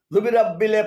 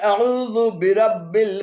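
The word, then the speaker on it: أَعُوذُ بِرَبِّ: এখানেও পূর্বের মতো আউযু শব্দের শেষে থাকা জু দালপেশ জুকে বিরাব্বিলের প্রথমে যোগ করে জুবিরাব্বিলে পরিণত করে উচ্চারণে ভুল করা হয়েছে। শুদ্ধ পাঠ হলো কুল আউযু বিরাব্বিল ফালাক, কুল আউযু বিরাব্বিল ফালাক।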